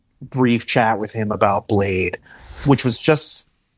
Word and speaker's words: Bladee: What was his awareness level on Bladee? It was really just like, I was like, oh wait, do you know the pronunciation is not Bladee with the double E's?